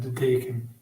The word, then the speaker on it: De Deken: Yeah, De Deken. De Deken.